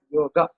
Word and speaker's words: yoga: So in Hindi, you pronounce it as yog, but in Sanskrit, it is pronounced as yoga. It is not yoga, it is yoga. So the correct word is yoga and not yog.